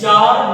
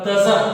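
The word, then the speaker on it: Tsar: जार Nicolas second, इसको हम जार पढ़ेंगे. ठीक है ना, इट इज नॉट इज तजर. ठीक है ना, इसको तजर मत पढ़ना क्योंकि ये टी जो है ना वो साइलेंट है.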